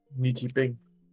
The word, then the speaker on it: Ni Yipeng: Today we're making this very cool orc from made by, just checking again that I pronounced it right, Ni Yipeng. There we go. Ni Yipeng.